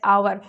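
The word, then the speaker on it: hour: अगला क्वेश्चन है आपका, ही drives eight A speed of 80 miles date days आवर। यहाँ पे देखिए आ गया आपका आवर में यह साइलेंट रहता है, यानी कि वॉवेल से शुरुआत हो रही है, यानी ओ, तो कौन सा आर्टिकल यूज़ करेंगे, एन।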